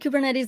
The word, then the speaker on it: Kubernetes: And also, I pronounce it Kubernetes. That is the way I've heard it pronounced.